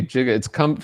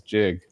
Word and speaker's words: giga: And people say gig, like gigawatts now, like how many gigs, but the original pronunciation was jig.